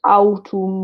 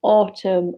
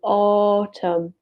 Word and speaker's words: autumn: will be autumn autumn watch the pronunciation of autumn so it's not autumn or anything like that autumn autumn autumn okay what do